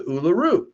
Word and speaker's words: Uluru: Have you ever been to Uluru?